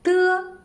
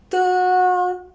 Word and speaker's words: de: De is an unaspirated voiceless alveolar plosive. When we pronounce it, the tip of the tongue and the upper alveolar ridge form a closure. Non-air is compressed behind this closure, then escapes. It sounds like de of dirty.